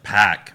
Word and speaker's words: PAC: kenny omega versus pack we've been saying it wrong this whole time pack it's not pops not Park it's packed now I've been saying it